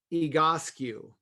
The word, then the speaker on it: Egoscue: It's a gentleman's last name, Pete Egoscue. It's Basque.